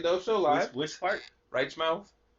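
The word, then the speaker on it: Reichmauth: a u t h it's like German I say right mouth bro ain't nobody correcting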